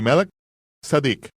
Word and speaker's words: Melquisedec: Él estaba actuando como un sacerdote según el orden de Melquisedec o como se debe pronunciar de Mel Sadic. Melek, rey, sad justicia.